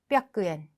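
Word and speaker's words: 八百円: 그래서 작은 쯔의 발음 받침으로 바뀌면서 어떻게 바뀌느냐 바로 핫100엔 그리고 1000엔은 세넨 그리고 3000엔은 세넨 이렇게 돼야 되지만 또 응발음 때문에 발음이 달라집니다.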